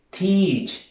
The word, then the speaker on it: teach: Teach, enseñar. Entonces, nota que la siguiente vocal no se pronuncia. Feel, beings, la A no se pronuncia.